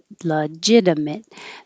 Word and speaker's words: legitimate: noun conversion conversion legitimate legitimate this g sounds like a j legitimate and the short